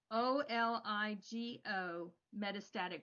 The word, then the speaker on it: oligometastatic: what it is it's o-l-i-g-o metastatic breast cancer how do you pronounce that it's oligo-metastatic disease and yeah and so oligometastatic